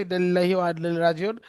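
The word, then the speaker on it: إنا لله وإنا إليه راجعون: ইন্না লিল্লাহি, এই উচ্চারণ ঠিক করো। এই হেই হেই, ইন্না লিল্লাহি ওয়া ইন্না ইলাইহি রাজিউন বলো সবাই।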